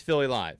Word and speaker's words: Philly Live: philly life like yeah it's philly life it's philly live yeah that's the proper way to say it yeah philly life so